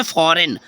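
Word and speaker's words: foreign: नहीं करना है ठीक है नेक्स्ट है जैसे फॉरेन फॉरेन मींस आप जानते हो विदेश होता है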